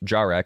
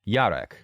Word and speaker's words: Jar: jar which is pronounced jar in game frustrates and confuses me because its Origins Are Slavic and is pronounced Yar and is typically short